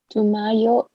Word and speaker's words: tumayo: Tumayo. Tumatayo. Tatayo. Okay. Again, the last syllable, right, is the accent.